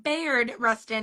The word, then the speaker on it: Bayard Rustin: Um, but defin or Bayard, I knew I was saying it wrong. Bayard Rustin, not Bayard, Bayard Rustin's grandma.